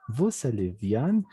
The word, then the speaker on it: vous allez: Pero cuando ya armas una oración y a la siguiente hay una vocal, la S se pronuncia vous allez bien. Bien, vous allez bien.